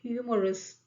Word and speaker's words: humorous: Okay, humorous. Again, ह तो silent नहीं है, साउंड किसका आ रहा है? ह का साउंड ही आ रहा है।